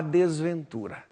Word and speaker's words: desventura: Porque você tem a palavra desventura, a sílaba forte é tu, jogue fora.